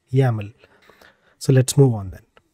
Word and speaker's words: YAML: be yml or yaml and we pronounce it as yaml so let's move on